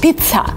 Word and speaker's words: pizza: And here, you're kind of pronouncing it like pizza, with a stop, with kind of t, with air coming out of your mouth, pizza. Because some people say pizza, which is not right. You kind of have to stop in the middle of the word and say pizza.